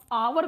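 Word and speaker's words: hour: और पढ़ने के लिए आपको पढ़ना आना चाहिए, नहीं तो हावर को आप आवर को हावर पढ़ेंगे बार बार।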